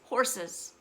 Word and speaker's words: horses: animal, the plural is horses. horses. Right, you have to add the extra little is at the end for the plural of horse to sound like horses.